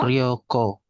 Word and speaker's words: Ryoko: Ryoko. Oke, Rio-nya panjang pendek? eh Ryo. Pendek ini. Pendek ya. Ryo, Ryoko, Ryoko. Nah, kalau di sini ada panjang dibacanya Ryoko. Ini kan tidak ada Ryoko.